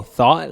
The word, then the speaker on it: thot: Yeah, Thought. see? Thought. So it's spelled THOT, but you pronounce it THAAT.